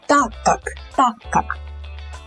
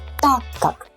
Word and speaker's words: так как: So ТАК КАК. This word КАК is not really accented. So again, ТАК КАК. It sounds just like one word, basically.